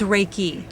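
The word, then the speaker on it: Reiki: no an on it how do you pronounce it it's raiki raiki so that's different than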